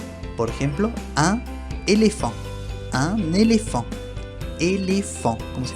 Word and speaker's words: éléphant: La PH es un caso raro, digamos, se pronuncia como si fuera una F. Por ejemplo, un éléphant.